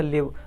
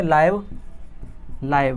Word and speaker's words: live: तो अगर इसका इस सेंस में इस्तेमाल करना है तो इसको कैसे प्रोनाउंस करना पड़ेगा, कहना पड़ेगा लिव, राइट। अगर इसी को हम लिव ना करके इसको कहेंगे लाइव, इसको क्या पढ़ेंगे हम, लाइव। तो इसका मतलब हो जाता है जीवित।